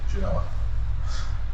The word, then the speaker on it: Genoa: And even in that meeting, that they actually discuss how they're going to pronounce this, believe it or not, and it is Genoa. They said they called it the Anglo-Saxon way to pronounce it. I don't know what that means, other than they called it Genoa instead of Genoa.